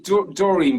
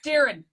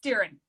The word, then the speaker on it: Doireann: But I say Doireann, but that's incorrect, isn't it? Unfortunately, it is. But I have had a lifetime of incorrect pronunciation, so don't worry. You just got to join the club, the Petfix Club. It's Doireann. It's Doireann.